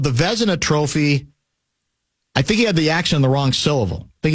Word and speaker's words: Vezina: Although, in his translation, he called the Vezina Trophy, I think he had the accent on the wrong syllable. I think he called it the Vezina Trophy. Vezina? Yeah, or Vezina Trophy, whatever it was.